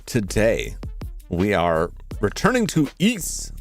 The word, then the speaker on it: Ys: Well, today we are returning to East. That's pronounced east like geese. Uh not wise or YS or is or anything like that.